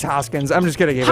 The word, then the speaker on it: Hoskins: Dirty Haskins. No. That's incorrect. First base. You got to say it correctly. What? Think about your vowels there. Hawkins. Vowels. Your vowels. It's Reese Hoskins.